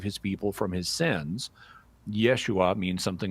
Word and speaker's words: Yeshua: is often conjectured that his uh Aramaic name would be pronounced Yeshua but um there are other dialects of Aramaic where the name Jesus is pronounced Isha and so even in Aramaic